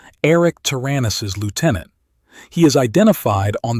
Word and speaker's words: Taranis: Arik Taranis, pronounced Taranis, is hiding on Terra under the criminal alias Babu Dakal.